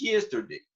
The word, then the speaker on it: yesterday: La pronunciación es yesterday. Hacemos así, no es ye, porque no es una ye, ¿verdad?